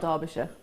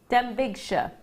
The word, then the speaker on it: Denbighshire: No, it's not Derbyshire. Denbighshire.